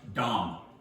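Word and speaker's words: דם: The word for blood in Hebrew is dam. If you spell it, it'd be D-A-M. Dam. Sounds like I'm cussing when I say it out loud right now, but I'm not.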